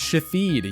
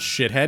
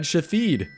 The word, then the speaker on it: Shathid: It's pronounced Shathid, yeah. Not shithead, Shathid.